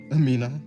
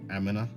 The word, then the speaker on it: Amina: That is how you say your name, right? Amina, not Amina.